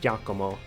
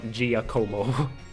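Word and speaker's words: Giacomo: __ ] giao which I I I've looked up apparently it's supposed to be pronounced jakomo and not giao but like Jak is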